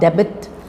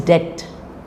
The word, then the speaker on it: debt: debt it is not debbit or debt it is debt come doubt tomb B